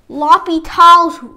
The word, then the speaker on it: L'Hôpital: it's a little fancy something called loppy tiles apparently there's a silent s somewhere in here but I don't care